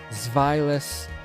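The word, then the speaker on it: Zweilous: Dino, Zweiles, Hydreigon. That's how I pronounce those. You pronounce them differently, perfectly fine. I don't care. But that is how I pronounce them. Because German.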